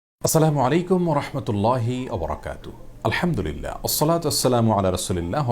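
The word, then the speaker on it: السلام عليكم ورحمة الله وبركاته: উচ্চারণে সালাম দিয়ে বলেছিলেন আসসালামু আলাইকুম যার কারণে আসসালামু আলাইকুম ওয়ারাহমাতুল্লাহি ওয়াবারাকাতুহু এভাবে বিশুদ্ধ উচ্চারণে আমাদেরকে সালাম দিতে হবে তাছাড়া আসসালাম এটি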